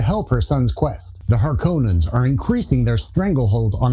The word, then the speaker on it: Harkonnens: Harkonnens just sounds more threatening too, and it doesn't help that Frank Herbert himself is heard pronouncing it Harkonnens, but is also quoted as saying that however you want to pronounce things is just fine, which just seems like